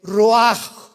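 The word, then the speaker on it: רוח: El roj, que la palabra hebrea para espíritu.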